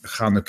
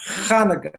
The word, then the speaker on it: Chanukah: A hey would start with an H, but a het would be more like a CH or something like that. Right. That's why most people spell it. It's like a German CH, a H. Right? Yeah. So that's normally why they spell it with the CH.